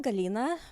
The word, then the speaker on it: Galina: Yeah, that's fully uh What's your Ukrainian pronunciation? It's still Galina, but nobody calls me that at all.